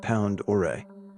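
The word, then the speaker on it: Pend Oreille: Idaho to be exact it's pronounced pound or a by the way Lake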